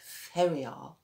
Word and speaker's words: Ferrier: Tina from the Ferrer. Pronounced Ferrier Estate.